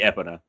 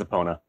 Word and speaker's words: Epona: was just joking okay it's technically supposed to be epona but everyone says opponent that's fine it doesn't matter